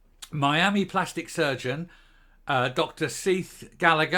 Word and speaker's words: Sidhbh: plastic surgeon uh Dr seith Gallagher I believe that'll be Seath I think that's the Irish pronunciation uh Dr seith Gallagher